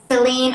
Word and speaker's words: Celine: Celine rhymes with queen for a reason.